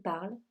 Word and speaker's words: parlent: Entonces, ils parlent espagnol, français et anglais. Les recuerdo de paso que la NT del verbo conjugado no se pronuncia. Digo, ils parlent espagnol, français et anglais.